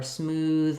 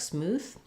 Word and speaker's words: smooth: voiceless th instead so they may be trying to say breathe and it sounds a little like breathe or smooth might sound like smooth but otherwise it's mostly